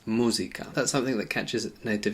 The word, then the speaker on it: música: Now the same happens with music, we say music. In Spanish it's música.